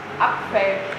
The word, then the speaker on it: Apfel: Apfel. Apf. See that? So we can start apf. EF. EF? PF. Apf. Apfel. Apfel. Apfel. Yes.